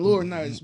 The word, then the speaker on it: Laurinaitis: What's his laryngitis? John Laurinaitis, but it's spelled very similar.